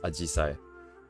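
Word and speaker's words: 紫陽花: Hydrangea is pronounced as Ajisai.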